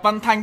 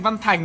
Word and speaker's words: Văn Thanh: Ủa sao mình đọc Văn Thanh, các ông cứ nghe thành Văn Thành nhỉ?